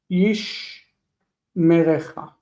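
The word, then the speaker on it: יִשְׁמְרֶךָ: This first shva is silent, second is vocal. Yishmerecha.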